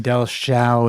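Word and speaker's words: Dellschau: Dell show airship artwork Dell Sha is spelled D E L L S C H A U.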